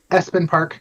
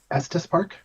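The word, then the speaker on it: Estes Park: And if for everybody who doesn't know, this is in uh Espen Park, Colorado. Estus Estus Park. I keep saying it wrong.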